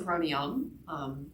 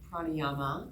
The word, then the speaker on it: pranayama: Today's practice, what I'd like to offer you is first some pranayama, or pranayama, depending on how you pronounce that.